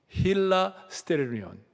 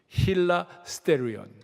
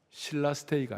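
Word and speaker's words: ἱλαστήριον: 자,이 화목 재물이라는 말이 헬라어로 힐라스테리온 힐라스테리온 신라스테이가 아니고 힐라스테 발음 한번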